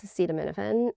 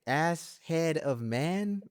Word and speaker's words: acetaminophen: the cherry on top was Trump trying to pronounce acetaminophen. Oh my God. It was something like acetaminophen. Well, let's see how we say that. Acetaminophen. Right. Like I kept thinking, like, is he pronouncing it ass-head-of-men?